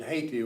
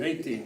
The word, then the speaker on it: Haiti: Haiti. Yeah, it's The Haiti. H is silent. H is silent Haiti.